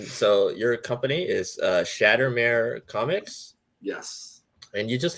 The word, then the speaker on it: Shattermare: nice uh and so your company is uh shattered mayor comics yes and you just got this awesome